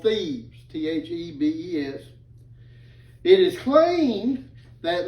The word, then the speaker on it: Thebes: Now, that's not thieves like someone breaking into your house. That's Thebes with a B. I got to make myself pronounce the B.